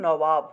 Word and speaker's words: নবাব: নবাব থাকলে সেটা উচ্চারণ হলো নওয়াব, অর্থাৎ শেষের বটা বর্গীয় বয়ের মতো উচ্চারণ হবে, আর মাঝখানের বটা অন্তস্থ বয়ের মতো উচ্চারণ হবে, ঠিক আছে?